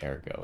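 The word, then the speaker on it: Ergo: on with the uh is it Argo yeah it's it's pronounced Argo in this game right we'll go on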